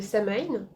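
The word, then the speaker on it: Samhain: chaque fois donc halloween c'est la fête de samine ça s'écrit S a m H a i n c'est à peu près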